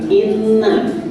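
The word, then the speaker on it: إنّا: yang ketiga ada kalimat Inna cara membacanya Nun tasydid harus ditekan dan tidak mungkin nanti dibaca pendek ya selanjutnya Kalimat pembuka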